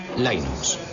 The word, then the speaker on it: Linux: los eeuu lo más seguro es que lo pronunciaría line ucs pero a linus torvalds le importa un bledo